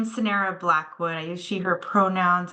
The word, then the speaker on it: Sonara Blackwood: And I hope I pronounced that correctly. You're great. Hi, thank you, Charlie. Yes, my name is Sonara Blackwood.